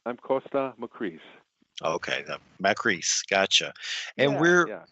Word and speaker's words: Kosta Makreas: again possibly no problem it's like it's i'm costa macris okay makris gotcha and we're we're you were